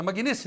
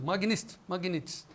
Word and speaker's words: Magnitsky: É assim que se pronuncia, né? Magnitsky, é isso, Gleidson? Magnitsky.